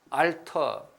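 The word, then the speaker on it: alter: 그런데 여러분 나중에 이 단어를 배울 거거든요. 알터. 알터 똑같거든요. 발음은.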